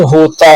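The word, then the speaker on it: who: और यू के बाद आने वाला एल साइलेंट होता है, जैसे कुड, शुड। एच से पहले आने वाला डब्ल्यू साइलेंट होता है, जैसे हु, हुम, हुज।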